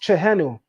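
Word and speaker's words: Tjehenu: everybody could see that chahenu t-h-e-n-u and that's pronounced chahenu can everybody see that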